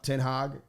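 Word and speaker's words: ten Hag: you know new new coach comes in yeah tin hog that's what they say let's say his name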